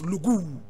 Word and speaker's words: Lougou: just around 1860 that was when she was born and she was born in a place known as lugu l-o-u-g-o-u lugu interested now today you go as a population